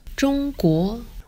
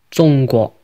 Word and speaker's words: 中国: In Mandarin, it's pronounced 中国 with a high flat tone and a rising tone. And in Cantonese, it's pronounced 中国 with a high flat tone and a mid-flat tone.